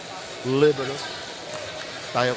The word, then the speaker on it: libero: You have to pronounce it Italian. Libero libero.